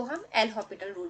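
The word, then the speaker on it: L'Hôpital: एक बहुत famous method जो हम यूज करते हैं जनरली हमेशा वो है एल हॉपिटल रूल। हॉस्पिटल नहीं पढ़ते हैं इसको, ठीक है, ये हॉस्पिटल पढ़ते हैं, एस साइलेंट होता है, पर इन जनरल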